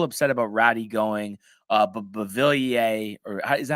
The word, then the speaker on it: Beauvillier: He said fans were a little upset about Ratty going, but Beauvillier, is that how you say it? I think you said right. Yeah. Beauvillier.